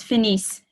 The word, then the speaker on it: finissent: Ils finissent. Ils finissent. Or elles finissent. Yeah, because you do pronounce the S's, but you don't pronounce the ENT.